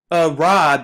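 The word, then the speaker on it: ערב: at strong's concordance h6153 where it says arab arab is the correct pronunciation of the word to mean evening which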